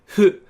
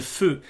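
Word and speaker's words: ふ: It's hu, hu. It's not h or something like that. It's hu. Some people actually just pronounce it as a fu completely, and that's completely fine.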